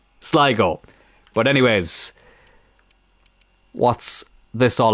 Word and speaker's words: Sligo: Not Sligo, Sligo.